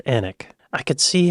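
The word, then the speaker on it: Alnwick: quarma before finishing up in alwick an Al alwick but it's pronounced anic I could see how these these names that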